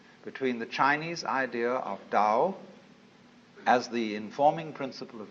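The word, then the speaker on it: 道: all the Dao Dao pronounced Dao in the Mandarin dialects Tao in the Cheung high dialect toe in the Cantonese dialect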